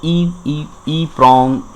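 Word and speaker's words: EPROM: इसको हम ई प्रॉम pronounced करते हैं, ई प्रॉम्स प्रोनाउंस्ड करते हैं।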